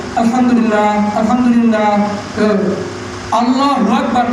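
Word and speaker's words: الحمد لله: সুবহানাল্লাহ সুবহানাল্লাহ, এইভাবে আলহামদুলিল্লাহ আলহামদুলিল্লাহ আলহামদুলিল্লাহ আলহামদুলিল্লাহ, এইভাবে আলহামদুলিল্লাহ আলহামদুলিল্লাহ, এইভাবে না, হা উচ্চারণ করতে হবে আলহামদুলিল্লাহ আলহামদুলিল্লাহ, এইভাবে।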